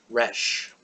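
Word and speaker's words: ר: little tail there it's it's pronounced like an R the Israeli R is a little tricky but you'll be understood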